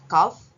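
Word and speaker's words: cough: ಆಫ್ of sound ಅಲ್ಲಿ ಓದುವ ಪದಗಳು ಸಿಓ ಯುಜಿಎಚ್ ಕಫ್ ಆರ್ ಓ ಯು ಜಿಎಚ್ ರಫ್ ಟಿ ಓ ಯುಜಿಎಚ್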